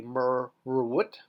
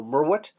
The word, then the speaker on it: merwut: Everything pronounced together would be merwut, but of course we eliminate that extra R because it's an echo sound, so merwut.